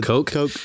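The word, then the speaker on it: Koch: Coke.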